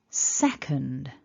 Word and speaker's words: second: this first syllable so repeat after me sec sec so you might feel that little click there for the syllable two then we've got that weak schwa so it's very short and then an um which is up in the nose and a d which is voiced so building